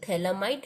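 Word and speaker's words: phthalimide: इसके बाद आपका फिफ्थ मेथड है गैब्रियल थैलामाइड सिंथेसिस. यहाँ पे आपका पी साइलेंट है इसलिए थैलामाइड सिंथेसिस है.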